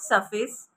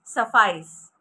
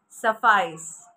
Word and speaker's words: suffice: so the first word for today is s-u-f-f-i-c-e is not surface it's suffice suffice suffice now what does